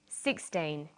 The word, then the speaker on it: sixteen: usually the first syllable in a number is stressed 16 60. notice that it's the final n in teen that you have to be careful with tane t but of course